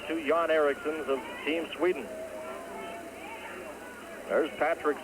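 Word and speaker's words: Erixon: k SS o n but uh pronounced exactly the same two yon ericon of Team Sweden there's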